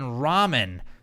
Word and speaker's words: ramen: on Twitter he says is the first syllable in ramen pronounced like the name Raymond or like raw nothing I just gave